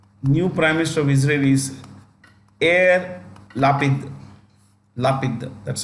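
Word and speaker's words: Yair Lapid: minister of Israel new prime minister of Israelis air lapid laughing that's how you pronounce it okay yeah love it so um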